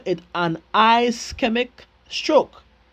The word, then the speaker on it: ischemic: we call it h uh call it an ischemic stroke iic stroke that's how it's pronounced emic stroke um which is due to